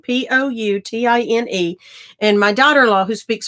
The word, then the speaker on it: poutine: It has French derivatives, poutine, Poutine.